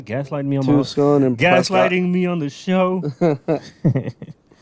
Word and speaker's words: Prescott: Yeah, You were saying how you say your Prescott. Prescott. Oh, Prescott. Oh, Yeah, what? It's Wait, Prescott, not Prescott. Wait, how's it pronounced?